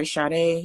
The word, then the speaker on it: Sade: my name is chade it's pronounced shot and i say sadie whatever y'all be saying um i help small